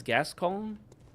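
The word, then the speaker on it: Gascoigne: I pronounce his name as Gascon because if it's French in nature or Italian, I don't think they would pronounce it coin.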